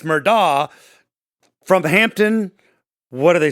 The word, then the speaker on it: Murdaugh: corrected us many times because we say murdoch many are saying no it's murdah from hampton what do